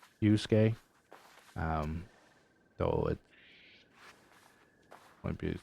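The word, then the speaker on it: Yasuke: I I think you pronounce it Yusuke.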